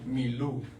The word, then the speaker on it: Milú: Le puse por título Milú.